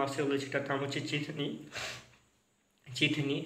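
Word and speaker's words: ചിത്തിനി: বলে যেটার নাম হচ্ছে চিঠিনি চিঠিনি সি এইচ আই টি এইচ আই এন আই এটার উচ্চারণটা আমি চিঠি করতে এসেছিলাম কারণ ভুল করে কিন্তু সেইটা না এটার নাম হচ্ছে চিঠিনি তো এই চিঠিনি সিনেমাটা রিলিজ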